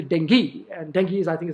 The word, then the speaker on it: dengue: zone for dengue fever you pronounce it as a dengue it is not dengue it is actually dengue and dengue is i